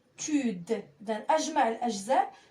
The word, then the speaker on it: habitude: A B habitude. إذن أجمع الأجزاء وأنطقها بمرة واحدة.